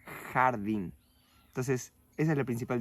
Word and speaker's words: jardín: La palabra, por ejemplo, jardim, en español se pronunciaría jardín.